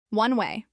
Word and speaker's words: one way: One way. This is pronounced as 2 words with equal stress.